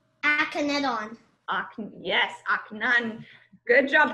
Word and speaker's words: Akhenaten: Yes, Akhenaten. Good job pronunciation, too.